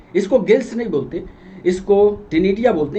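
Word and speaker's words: ctenidia: तो श्वसन के लिए इसको गिल्स नहीं बोलते, इसको टिनिडिया बोलते हैं। गिल्स जैसी ही रचना होती है लेकिन विशेष नाम इसका है टिनिडिया। सी साइलेंट होता है।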